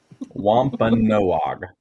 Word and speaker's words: Wampanoag: Yes, the Indian tribe you mentioned is the Wampanoag tribe. Wampanoag. No, not whatever you said.